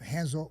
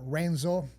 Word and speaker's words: Renzo: was to train with Henzo. We say Henzo's Renzo, but in Portuguese we pronounce like an H. The R in the beginning is like an H.